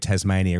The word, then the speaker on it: Tasmania: No Z in the word Tasmania, is there? There's no Z in... No. It's an S. Yeah, Tasmanian. It is Tasmania, but the Americans... But everyone pronounces it with the Z, so we just lean into it.